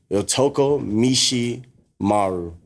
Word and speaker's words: Yotoku Mishimaru: Yotoku Mishimaru.